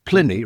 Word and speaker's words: Pliny: his beers are indeed Pliny the Elder and Pliny the Younger, Absolutely. Yes. And people say to me, it's Pliny, isn't it? I said, no, Pliny rhymes with Vinny.